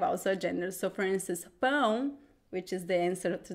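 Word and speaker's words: pão: do pronounce both vowels it is very important to pronounce the two vowels so it's not it's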